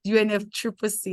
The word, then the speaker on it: UNFCCC: we UNF Triple C I love the way you pronounce it UNF Triple C and I think I should also adopt it instead of saying UNF fccc all right thank you so